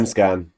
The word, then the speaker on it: Allsvenskan: mispronounced that. Allsvenskan.